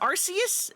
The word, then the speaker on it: Arceus: I it is Arus and I will refuse to say it any other way.